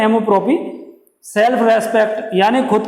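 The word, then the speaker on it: amour-propre: और एमोप्रोपी, self respect, pronunciation क्या है, एमोप्रोपी, सेल्फ रेस्पेक्ट यानी खुद के स्वाभिमान के लिए।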